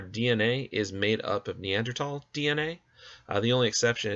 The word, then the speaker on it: Neanderthal: just a moment about neanderthals and yes it is pronounced neanderthal the h is silent uh this was the